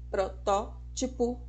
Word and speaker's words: protótipo: falam de estereótipo protótipo E na verdade a pronúncia correta é com acentuação na antepenúltima sílaba esteriótipo protótipo vermífugo tem que sabendo